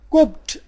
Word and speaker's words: Copt: قبط English میں کوپٹ کہا جاتا ہے.